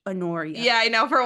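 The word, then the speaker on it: Honoria: k kta and then anoria anoria you don't say the H anoria yeah I know for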